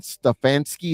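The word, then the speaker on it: Stefanski: he's right where he should be uh Kevin stefansky is that the proper way to pronounce his name that's perfect uh uh Sean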